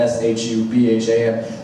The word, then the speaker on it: Shubham: Now, it's not spelled how I'm saying it. It was spelled S-H-U-B-H-A-M. But even he pronounced it Shubham, which was amazing to me.